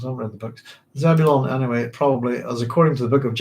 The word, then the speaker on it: Zebulon: There's a painting on Wikipedia by Francisco de Zurbaran of And it's pronounced Zebulon.